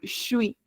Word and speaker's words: je suis: Como el shui, shui. Uno de las personas entrevistadas decía esto, ¿no? Mencionaba el shui, que es como el je suis, que es el yo soy, ¿no?